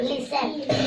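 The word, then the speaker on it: listen: लिसन। लिसन। क्या पढ़ेंगे इसको? लिसन। अब लिसन में क्या साइलेंट है? T silent.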